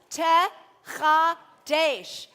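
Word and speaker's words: שתחדש: So it's got 4 syllables. She, Shetechadesh.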